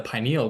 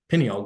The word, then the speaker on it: pineal: though it's produced by something called the pineal gland or the pineal gland um I don't think there's I think you can use either pronunciation of it but this is